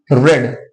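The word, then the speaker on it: read: और रीड की spelling same होती है तीनों फॉर्म में, लेकिन प्रोनाउंसिएशन बदल जाता है। मतलब रीड फर्स्ट फॉर्म हो जाएगा, रेड सेकंड फॉर्म, और रेड ही क्या हो जाएगा, थर्ड फॉर्म।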